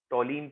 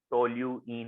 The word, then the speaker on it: toluene: टोलीन पहचानिए, इस ग्रुप को टोलीन कहते हैं, टोल्यूइन होता है शायद, ठीक है।